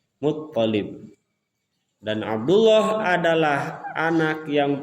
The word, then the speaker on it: Muttalib: Jadi sebagaimana kita tahu ayahnya Nabi adalah Abdullah bin Abdul Muttalib. Jadi tasdidnya ada di ta, di to. Muttalib.